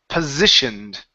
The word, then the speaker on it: positioned: positioned to the persistent positioned as they position themselves as they positioned themselves ok now this s is going to be a Z sound possessive positioned one more